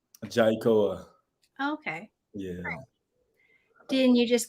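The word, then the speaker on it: Jai'koa: right how do you say your full name jaikoa okay yeah didn't you just go by jai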